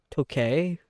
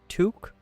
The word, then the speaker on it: toque: I might be pronouncing this wrong. What is that? Tokay? For beanie? That's how you spot the Canadian. Toque?